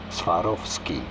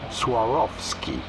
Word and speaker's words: Swarovski: business since its founding in 1895 by Daniel Swarovski how do you about pronouncing it in English swarovki of ski Swarovski pretty straightforward once you know Swarovski jewelry company